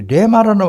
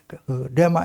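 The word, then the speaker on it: ῥῆμα: 그다음에 이게 레마라는 말인데 신약 성경입니다. 레마 이제 원 발음에는 흐레마입니다. 흐레마. 허레마 앞에 허 발음을 약간 합니다. 그러니까 허흐레마 이렇게 합니다. 흐레마 이런데 그냥 막 우리 읽기 좋게 레마라 그럽니다.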